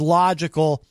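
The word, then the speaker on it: Logicl: This is Logical. He spells it in all caps, and it is spelled L-O-G-I-C-L, Logical.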